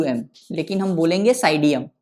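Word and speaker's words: Psidium: का scientific name है साइडियम P silent होगा पी एस आई डी आई यू एम लेकिन हम बोलेंगे साइडियम पी साइलेंट होगा साइडियम गुवा जावा जी यू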